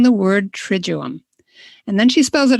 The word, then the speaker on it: Triduum: about this time of year saying the word triduum and then she spells it out trij oo um and when i read that i realized i've been mispronouncing it my whole life tritone so and